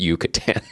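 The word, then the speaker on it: Yucatán: And she just looks at me and goes, Craig, it's pronounced Yucatan.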